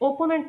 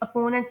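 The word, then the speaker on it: opponent: तो अपोनेंट word कुछ लोग इसे ओपोनेंट प्रोनाउंस कर रहे होते हैं। लेकिन नहीं इसे अपोनेंट प्रोनाउंस करते हैं।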